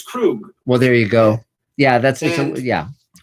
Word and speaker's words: Krug: I was pronouncing it Krug, but it's Krug.